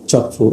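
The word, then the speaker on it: Kyaukphyu: আপনার ইয়াঙ্গন কিংবা আরাকানে চকফু, এটা বানান লেখায় কে দিয়ে, এটা উচ্চারণ হচ্ছে চকফু, আপনার মনে রাখবেন, চকফু বন্দর।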